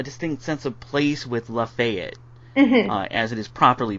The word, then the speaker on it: Lafayette: But I did feel a distinct sense of place with Lafayette, mm-hmm. As it is properly pronounced.